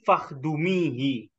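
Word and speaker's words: فاخدميه: Ya dunia, wahai dunia, man khodamani fakhdumihi. Jadi di sini bacanya Oh, fakhdumihi.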